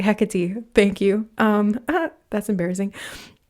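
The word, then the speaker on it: Hecate: you're protected and goddess heate is coming in right now heate heck heck she said okay sorry I mispronounced her name and she corrected me sorry hecky thank you um that's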